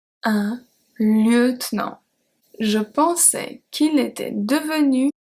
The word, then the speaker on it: lieutenant: Un lieutenant. Un lieutenant.